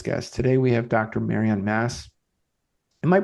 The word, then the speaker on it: Marion Mass: Marian Mass. Am I pronouncing that right? I I just I Yes. Yeah. Just like Catholic Church.